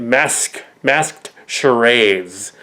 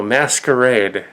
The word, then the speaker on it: masquerade: So some of them are pronouncing it masked charades. No, Masquerade. It's the French. Masquerade. Charades is also French. So Masquerade is correct.